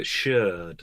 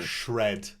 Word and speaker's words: Sheard: I love the surname Sherd as well, the proper pronunciation. Or Shred, as the My Doctors called it.